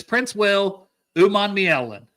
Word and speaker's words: Princewell Umanmielen: It's Princewell Umanmielen.